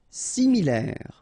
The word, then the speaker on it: similaire: Similaire, final E not pronounced, similaire.